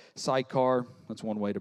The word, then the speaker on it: Sychar: So he came to a town of Samaria called Sychar, that's one way to pronounce it, near the property that Jacob had given his son Joseph.